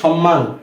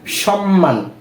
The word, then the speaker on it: সম্মান: কি পাগল তো উন্মাদ শব্দেও কিন্তু ম এর উচ্চারণ হচ্ছে এরপরে সম্মান দন্তস মম ম ফলা আকার ন কি কি হয় সম্মান সম্মান এই যে নিয়মে আমরা পড়েছি যে শব্দের